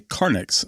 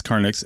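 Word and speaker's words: carnyx: Well, they found an extraordinary Iron Age war trumpet known as a Carnix. And in case I'm pronouncing that wrong, C A R N YX in West Norfolk.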